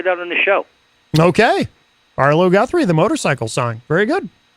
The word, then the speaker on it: Arlo Guthrie: Have you ever heard of Artie Guthrie? Did I say his name right? You mean Arlo Guthrie?